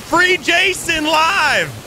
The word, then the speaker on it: Free Jason Live: My name is Free Jason Live. Free Jason Live. Yeah, rhymes with Free Mason Live, bro.